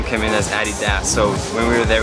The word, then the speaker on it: Adidas: name came in as Addy Das so when we were there we kind of figured okay so the correct way to say it is Addy ass according to Michael the